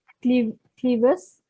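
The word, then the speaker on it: clivus: Okay, what is clevis?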